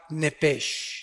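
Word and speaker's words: נפש: hebreo es la palabra nepes apúntala como suena nepes con sh se pronuncia nepe al morir algo se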